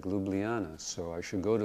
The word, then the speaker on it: Ljubljana: And I said, oh, that sounds like Ljubljana, so I should go